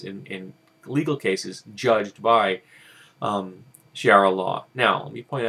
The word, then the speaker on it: Sharia: Now, today, in the year 2010, a number of Nigerians have begun to speak about this case and sharia law in general concerning this amputation, and they are using social networking systems to do so.